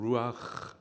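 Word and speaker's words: רוח: 당신의 생기를 불어 넣으셨습니다 생기 히브리식 발음으로 루아 그 뜻은 호흡이란 뜻이에요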